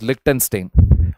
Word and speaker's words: Liechtenstein: Yeah, this is pronounced as Liechtenstein, under which they have linked markets in return for investment.